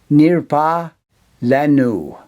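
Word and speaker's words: נִרְפָּא לָנוּ: the a vowel, and the last letter is silent, nirpa. The last, l, with the a vowel, la, n, u. Nirpa lanu.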